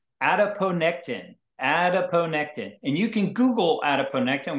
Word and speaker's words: adiponectin: And you can Google adiponectin, which is spelled just like it sounds, A-D-I-P-O-N-E-C-T-I-N.